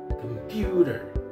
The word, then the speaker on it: computer: computer without realizing that that person has giving stress on the first syllable and it is incorrect why because it's supposed to be on the second syllable puter computer computer right repeat after me